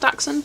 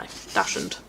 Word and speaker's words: Dachshund: I know it's technically pronounced Dachshund, but no, Dashend.